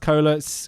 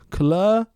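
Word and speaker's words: Koehler: I think it's pronounced cola. K O E H L E R. Coler. Cola.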